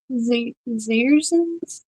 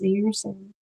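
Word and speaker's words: Dzierzon: Zerins. Okay. Silent D. Silent D, people. Uh, I think it is because it's DZ, so I think it's Zeren.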